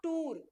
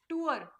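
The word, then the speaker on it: tour: इसका प्रोनाउंसिएशन क्या होगा, इट इज नॉट टूर। टूर नहीं बोलते कि हम टूर पे गए थे, स्कूल ने हमें टूर पे ले गया, स्कूल की तरफ से हम टूर पे गए थे, हम नहीं बोलते इसको, टूर नहीं होता है ये। इसका प्रोनाउंसिएशन क्या है, टूअर, प्रोनाउंस करो टूअर, टूअर, ठीक है, टूर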